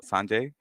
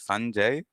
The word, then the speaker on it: Sanjay: so it is the the pronunciation and the emphasis is on the first syllable usually so it is Sanjay Sanjay no not today okay